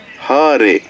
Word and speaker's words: Hare: It's not Hare. Hare.